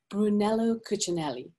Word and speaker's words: Brunello Cucinelli: hope I'm pronouncing this correctly as well, but Brunello Cucinelli. You got it. Your pronunciation is on point.